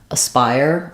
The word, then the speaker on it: aspire: have an aspiration um in this case Spire is stressed and we only have two syllables so this is completely unstressed and it's awah sound sounds like a Spire I would write it